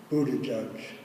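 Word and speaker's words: Buttigieg: gentleman that I mentioned his last name is a really tough one it's they heard different ways of pronouncing it but the latest is bootie judge and he's 37 years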